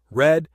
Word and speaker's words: read: broadcast forast cut hit hurt knit put quit read it's pronounced read in past and past participle set shed shut